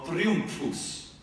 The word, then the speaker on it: Triumphus: Facciamo Triumphus.